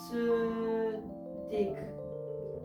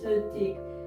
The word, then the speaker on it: 스틱: it in korean in korean you cannot have two consonants following each other so stick gets changed into su thick because they cannot pronounce the s with the t they need to uh between it's so thick so also when you